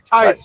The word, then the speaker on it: Tice: Is it Tice like dice? Tice, yes, like dice. Like dice with a T, yes, sir.